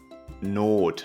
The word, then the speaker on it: Not: no number F not not note is emergency careful it's pronounced not you have to stretch the O A little here and we don't say